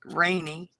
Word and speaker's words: Raeni: My daughter named one of my granddaughters, Rainy.